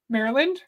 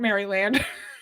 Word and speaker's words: Maryland: Maryland Mar Maryland Maryland how do you say that name Maryland not Maryland did a lot of